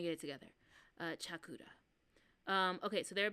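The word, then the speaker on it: CHAQLA: Oh, there's a pronunciation. Chakura. Chakura. That was my fault. I do know some Japanese. That was my fault. Chakura. That makes a lot of sense. There is no la and there is no Q.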